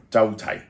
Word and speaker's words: 周霽: 周霽 Zhou Ji 霽字發音為“濟” The word Ji is pronounced as "ji" 雲銷雨霽 Clouds and rain